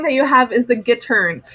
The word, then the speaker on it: gittern: Okay, the next thing that you have is the gittern. Just hearing me say that word gittern, you can already tell that it sounds like the word guitar.